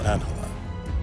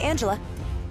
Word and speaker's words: Angela: talking to miss Solano is your name pronounced Angela or anela both are fine but uh most people call me Angela your name is Angela